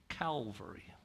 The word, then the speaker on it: Calvary: Calvary, I gotta say it right, it's not horses. It's Calvary, which is the hill, like a skull. That's what Calvary is, the skull hill.